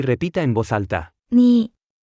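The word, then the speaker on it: 你: repita en voz alta ni ni ni ni ni ni ni se pronuncia con el tercer tono la palabra ni es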